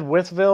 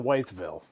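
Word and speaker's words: Wytheville: by the way so as it said withville or whitesville with west because i always thought it was whitesville that's what i thought so i said it wrong you know you guys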